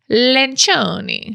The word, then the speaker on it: Lencioni: The way it's actually pronounced is Lencioni. Lencioni. Lencioni. Lencioni. It's like a pasta.